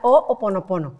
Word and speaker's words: Hoʻoponopono: Es un nombre bien raro porque es hawaiano. Exacto. Se pronuncia Ho'oponopono.